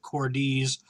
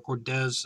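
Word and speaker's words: Cordes: there with Kevin cordz Cordis I believe is how you say it or cordz I think it's D's because of the S and not the Z uh and he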